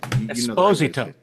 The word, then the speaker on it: Esposito: Esposito.